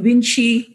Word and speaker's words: Yunci: But I do research in Malaysia where, you know, in Malay, C is pronounced as Ch. So if people call me Yunci, you know, I'll be happy to kind of, you know, acknowledge that too.